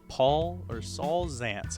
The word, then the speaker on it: Saul Zaentz: Saul Zaentz, I believe is how you say his name,